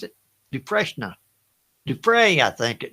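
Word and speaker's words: Dufresne: Which actor played Andy Du uh Dreshna? Is that is that how you pronounce it? Duhna. Du fray I think. D Fray.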